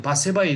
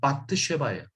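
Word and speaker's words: בת שבע: 근데 바세바의 이름이 뭐냐? 이게 한국식으로 발음한 건데 바트쉐바예요.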